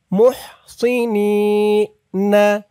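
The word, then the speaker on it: مُحْصِنِينَ: জেরর পরে ইয়া সাকিন মুহসিনি না মুহসিনিনা মুহসি বলা যাবে না কিন্তু সি বললে এই সদের উপরে সিনের উচ্চারণ হয়ে যাবে বলতে হবে সদ স মুসিনিনা মুহসিনিনাইর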